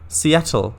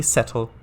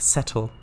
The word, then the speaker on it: Settle: it's c at l seattle you mean seattle no no it's definitely settle it's definitely uh this uh town is definitely pronounced settle um sure this could